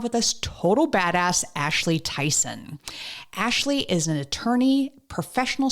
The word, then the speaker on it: Tison: the show Ashley Tyson I do hope it's pronounced Tyson yes it is I didn't even ask you